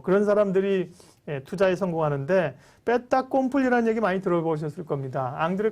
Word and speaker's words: fait accompli: 그런 사람들이 투자에 성공하는데 베타 콤플리라는 얘기 많이 들어보셨을 겁니다. 앙드레 코스톨로니가 얘기한 말인데요. 불어입니다. 불어. 영어로 얘기하면 fait accomplish가 되겠죠. 베타 콤플리. 불어하신 분들은 연어 발음 리에종이 돼서 그런데요.